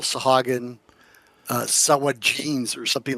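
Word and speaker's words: Sahuagin: And you know, I and we've talked about this before when we play DDO is as there's they also call Sahaugin uh, Sawagins or something like that.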